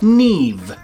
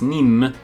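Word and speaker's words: Niamh: is to be polished neve i think we're saying that right oh yeah i was pronouncing this neem but apparently oh i was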